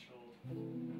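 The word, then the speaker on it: Skjold: Schold. It's S-K-J-O-L-D. It looks weird, but it's pronounced Schold.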